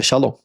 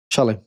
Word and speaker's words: Shalem: Completude é o nome do lugar, que é Shalom. É Shalom? Vou ver aqui, confirmar pra gente. Shalem, isso mesmo.